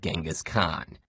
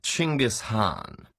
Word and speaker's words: Genghis Khan: Khan I see your honor is familiar with Genghis Khan the 13th century warlord whose military campaigns killed millions and left nothing but destruction in their wake objection first of all it's pronounced chingus Han really in Mongolia yes regardless he was one